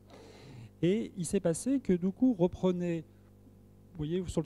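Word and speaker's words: Duqu: Un exemple que l'on a beaucoup disséqué au laboratoire de haute sécurité, c'est l'exemple de Doukou, que je prononcerai Doukou, pour être politiquement correct, qui est un avatar qui est de Stuxnet.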